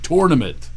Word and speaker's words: tournament: r is not ER it's or okay tournament okay get that out of